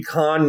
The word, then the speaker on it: Khan: of what's his name from The Wrath of Khan that would be con Union thing and no